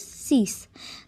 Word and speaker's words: six: 6 has the same spelling as in English, but the pronunciation is different, and that is six.